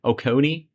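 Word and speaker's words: Oconee: Okonei Okone is how you pronounce it.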